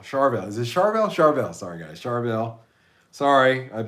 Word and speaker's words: Charvel: Fiverr set up Donna I gotta try Carvel chavel Charvel is it Charvel Charvel sorry guys charville sorry I've been out of